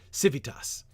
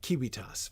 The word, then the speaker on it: civitas: um so uh uh it's pronounced very differently than classical L um there V's for instance uh civitas not Kias for instance anyway never mind doesn't